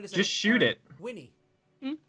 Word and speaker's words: Winni: Winnie. Yeah. W-I-N-N-I is pronounced. It's pronounced Winnie. It doesn't have an E at the end though.